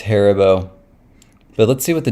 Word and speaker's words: Haribo: I mean, it's German. It's going to be on the first syllable.